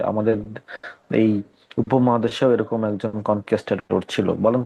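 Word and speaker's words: conquistador: দেন আসেন next vocabulary, কনকিস্টাডোরস। কনকিস্টাডোর এরকম উচ্চারণটা হওয়ার কথা।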